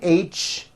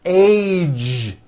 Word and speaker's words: age: the ends of words be sure to keep the voicing going throughout the whole word age it's not h it's age with a voiced ending college postage stage pledge